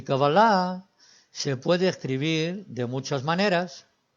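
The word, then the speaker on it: קבלה: he dicho y es una palabra aguda cábalas terminando digamos el asiento 3 liderando escribiendo en español que avalar el acento y es al final palabra aguda al final cábala y así es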